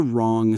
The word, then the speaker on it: wrong: Stressing the wrong syllable.